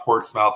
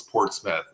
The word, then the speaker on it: Portsmouth: And she was talking about so in New England, it's Portsmouth, but it's spelled Portsmouth, and my mother kept calling it Portsmouth. I'm like, Mom, it's not Portsmouth, it's Portsmouth, okay?